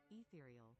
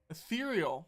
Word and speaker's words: ethereal: Ethereal. Ethereal.